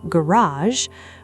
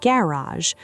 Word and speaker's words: garage: Garage often stresses the second syllable in American English, closer to garage, while British English often stresses the first syllable, closer to garage or even garage.